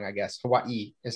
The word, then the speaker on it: Hawaii: 20 years so it's hawaii hawaii technically because the w is pronounced with a v if you're actually speaking hawaiian so okay man you